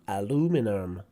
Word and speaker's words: aluminum: in british english and in american they say aluminum aluminum so word stress change and the sound at the end of the word also so there's a few